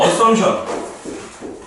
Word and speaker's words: assumption: 영어로는 assumption. 요 P는 묵음.